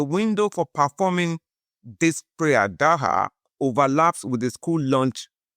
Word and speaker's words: Dhur: Dhur is spelled as D-H-U-R, or sometimes spelled with a Z, Z-H-U-R.